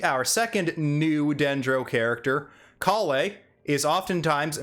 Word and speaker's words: Collei: l-e-i in france in in the french is pronounced lay i'm going with kalei now the last name